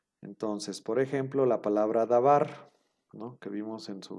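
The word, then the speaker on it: דבר: diccionario, que significa palabra, se divide en las siguientes sílabas. Da, y luego ven aquí un guioncito, ¿no?, como para separar las dos sílabas. La primera parte sería da, la primera sílaba, y la segunda sílaba sería bar.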